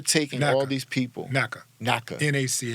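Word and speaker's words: NYCHA: all these people na Nika NAA we call it Nika cuz New York can't pronounce anything properly but we're having people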